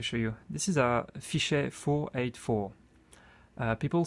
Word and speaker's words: Fichet: This is a Fichet 484. People say Fichet, but in French that T here is silent, so we say Fichet.